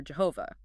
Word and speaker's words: Jehovah: Potter spends a lot of time on the tetetrogrammaton, the four-letter name of God, YHW, usually pronounced Yahweh or Jehovah.